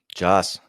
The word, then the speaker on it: Jazz: Jazz. Am I saying your name right? It's good, man. How are you? I usually say it like the genre of music.